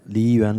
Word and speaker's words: Liyuan: So did I get it even remotely right, the pronunciation? Yeah, Xiadong, that's the name in Chinese, and Liyuan Library.